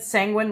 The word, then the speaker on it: Sanguine: Sanguine rhymes with penguin.